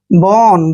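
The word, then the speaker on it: bone: Next word B ओ एन ई। बी का उच्चारण बै करते हैं, ओ को ओ की मात्रा पढ़ते हैं, एन ई को न पढ़ना है। बोन, बोन मीन्स होता है हड्डी, बोन मीन्स हड्डी, क्लियर।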